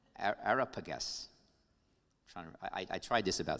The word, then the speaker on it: Areopagus: ideas with this council called, I'm going to mispronounce it, Areopagus. Yeah, I got it wrong. Areopagus.